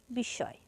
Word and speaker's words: বিস্ময়: দ এর দৃত্ত উচ্চারণ হবে পদ্ম ঠিক এরকম বিস্ময় এখানে পদের মাঝে ম ফল আছে তাই স এর দ্বিতীয় উচ্চারণ হবে বিস্ময় এরপর ভস্য স্তুূপ ভস্বস্তুপে ম ফল আছে মাঝে